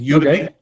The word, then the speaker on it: Udemy: By the way, I found the site where I actually bought the course, and it's called Udemy, as in like you to me, only it's spelled Udemy.